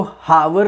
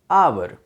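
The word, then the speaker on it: hour: यदि letter support तो इसको हावर नहीं पढ़ेंगे हावर नहीं पढ़ेंगे व्हाट इसे डेट अवर है ना अवर जैसे ह ओ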